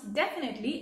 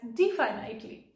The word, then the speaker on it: definitely: memorize definietly but definitely you are not going to pronounce definitely as defined lightly okay well I'm sure